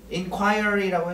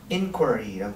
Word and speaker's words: inquiry: inquiry라고 해도 되고요. 영국식. 네, 미국식은 inquiry라고 발음하는 거야.